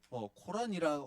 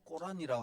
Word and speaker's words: 코란: 예, 코란이라고 하기도 하고 꼬란이라고 하기도 하고, 예, 뭐 한국 발음으로는 뭐 다르지만 어쨌든 뭐 코란이 더 맞는, 자기들 표현으로는 더 맞는 건데, 코란이라고 하는 경전이 있습니다.